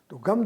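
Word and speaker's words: तिङ्: संस्कृत में क्रिया शब्दों में लगाए जाने वाले प्रत्यय को तिंग प्रत्यय कहते हैं। ती छोटा और क ख ग ङ। आपने देखा, मैंने इसका उच्चारण किया है। अंग, अंग, ये उच्चारण नहीं है।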